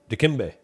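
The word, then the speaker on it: Dikembe: uh which I I don't remember how to pronounce this oh that's d kimbe d kimbe okay kimbe D kimbe um track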